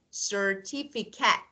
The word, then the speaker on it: certificate: When any word ends in ate, you should pronounce as ate when it's verb and at when it's noun or adjective.